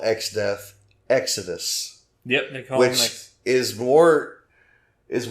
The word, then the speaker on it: Exdeath: the Japanese pronounced exdeath Exodus Exodus it yes it sounds like Exodus yeah this makes me